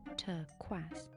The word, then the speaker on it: turquoise: Your pronunciation's terrible, Adam. It should be pronounced turquoise.